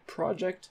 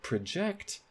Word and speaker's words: project: second one is project so a project has stress on the first syllable but project has stress on the second syllable so you would never